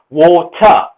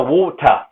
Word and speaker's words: water: Now, for whatever reason, the British do not like the word R unless it's at the beginning of a word.